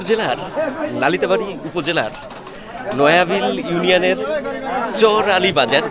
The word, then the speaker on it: চর আলী বাজার: লালিতাবাড়ি উপজেলার নয়াবিল ইউনিয়নের চর আলী বাজার যেটাকে বলা হয় কিন্তু আমাদের এখানকার মানুষ মানে আঞ্চলিক যে ভাষায় আমাদের যে মানে সহজভাবে আমরা যেটাকে উচ্চারণ করি সেটা হলো চাইর আলী বাজার তো সেই চাইরালি বাজার